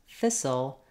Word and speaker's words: thistle: at how to pronounce Thistle and whistle so these words have a lot of letters but not so many sounds in thistle we actually just have four sounds the th sound letter I says e the if